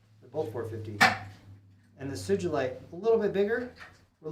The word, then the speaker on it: sugilite: Lovely sugilite, or sugilite, but we pronounce it sugilite.